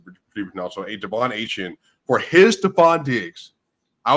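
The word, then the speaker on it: Achane: and said he doesn't want it to be pronounced a chain it's Asian apparently the way he wants to produce now so a Devon Asian for his Stefan Diggs I would have Pollard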